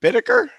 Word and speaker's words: Bittaker: Bittaker, and we're going to talk about energy today, energy flow. I'm going to read over your bio just slightly here. Dr. Bittaker is it Bittaker?